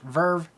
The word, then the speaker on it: VRV: a few other things called vrv or pronounced verve i'm not sure if